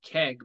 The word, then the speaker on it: Keig: So my real name is Keg, but that's spelled KEIG. So it looks like Keeg, I would say, phonetically.